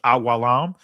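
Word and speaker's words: עולם: The Hebrew word is awalam, and I'm saying it in the ancient Hebrew pronunciation because there's no O sounds in ancient Hebrew or U sounds. So awalam, right? Every letter is pronounced as a syllable.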